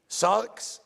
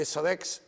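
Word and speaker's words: ⲥⲁⲣⲝ: And that's why in Arabic language, we don't have three sounds right next to each other, maximum two. So that's why it's very hard on people of saying sarx, they say sarex, next, they say it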